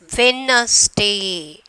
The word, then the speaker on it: Wednesday: So here, which letter is silent? D is the silent letter.